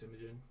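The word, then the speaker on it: Imogen: Like I was just like, "Oh, we're just listening to Image and Heap again."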